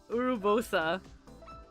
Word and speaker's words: Urbosa: Oh, like Urbosa? There's the one. Urubosa. Yeah, Urbosa. In Japanese, she's Urubosa.